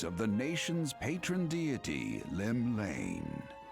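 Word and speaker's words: Llymlaen: Lone yet not alone, for the hero's arrival has drawn the gaze of the nation's patron deity, Lim Lane. Lim Lane. I knew how to pronounce that this whole time, I promise.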